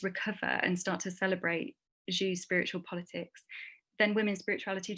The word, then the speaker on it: Sjöö: Monica Sjöö, if you say it in Swedish. Monica Sjöö, Sjöö.